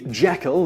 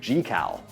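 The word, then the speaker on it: Jekyll: Sea number eight you might think that the Jackal in The Strange Case of Dr Jackal and Mr Hyde is pronounced as such but it's actually pronounced differently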